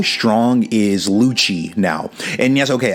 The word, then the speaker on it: Lucci: now and yes okay I am saying Luchi okay so many people in the comments dude have been telling me like dude stop saying Lucy it's not his name you're saying it wrong I'm sorry bro like